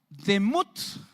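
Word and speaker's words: דמות: La palabra semejanza es la palabra demut. Así suena, pero se escribe así como la ven ahí. Así de rara, D-E-M-U-W-T-H.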